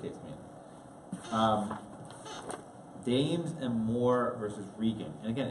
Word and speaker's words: Regan: Dames and Moore versus Regan. And again, it's not Reagan. This is not President Reagan. That's what you said? I said it was pronounced Regan. And yeah, it's pronounced Regan.